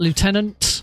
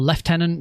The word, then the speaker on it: Lieutenant: Challenge unlocked, Lieutenant, or Lieutenant, depending on how you want to pronounce it.